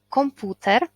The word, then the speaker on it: komputer: deskorolka akcent tutaj pana o komputer nie komputera bo komputer komputer na ulicy akcent pana i a nie